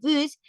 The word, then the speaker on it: bus: transporte, por lo tanto la bus, la U de bus, sí se va a pronunciar.